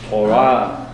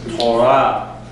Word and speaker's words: Torah: So, you have words like Shabbat, Torah. That first syllable is shorter, the second syllable is longer.